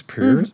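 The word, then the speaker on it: Perse: Pierce? James Pierce? I could be wrong, but James Purse. it's spelled P-E-R-S-E. P-E-R-S-E. Purse. Yeah, Not Pierce.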